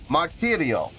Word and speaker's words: Martirio: After that came Martirio. Yes, and is that how you pronounce it?